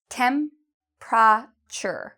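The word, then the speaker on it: temperature: Điều này: "Temprature", "Temprature", "Temprature".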